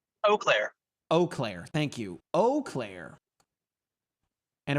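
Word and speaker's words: Eau Claire: south of Chipoa Falls in Oaklair. Right, Capuchi? I'm pronouncing that right? Yep. Oclair. Oakclair. Thank you, Erica.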